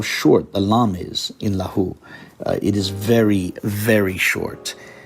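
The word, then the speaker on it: لَهُ: lahu notice how short the lamb is in lahu it is very very short and meanwhile the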